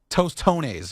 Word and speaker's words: tostones: going to make some toones what are those doones are are smash plantains in a circular shape